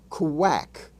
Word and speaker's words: quack: We also are introduced to the QU spelling form that has the sound of KW, as in the word quack, quack, Q-U-A-C-K.